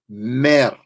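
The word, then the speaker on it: mr: word for love man I would spell it em er but the way it sounds is mam mam it is a love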